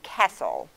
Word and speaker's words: castle: words that have sle but the t is silent like in castle okay now how to